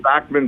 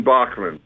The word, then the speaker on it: Bachman: Is it true us Americans have been mispronouncing your name for over 50 years? Yes, but you've been mispronouncing everything for 50 years. You heard the song, you say tomato, tomato, potato, potato. Right. Datsun, Dotson, Bachman, Bachman.